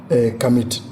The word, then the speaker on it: Kemite: Bon, parce qu'ils ne savent même pas bien prononcer le mot, parce que le T là n'est même pas prononcé. Voilà. Et on ne dit pas Kamite, on dit Kami.